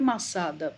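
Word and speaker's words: Masada: acento no daniel foi massada pronto porque é em hebraico a gente fala mas a dar cair branco a língua geralmente saci lá vai cair na última a ao assento caiu na última sílaba né e aí vocês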